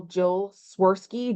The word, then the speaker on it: Jill Swirsky: So like, for example, Jill Swirsky, Jill rhymes with hill, swir rhymes with her, ski like ski.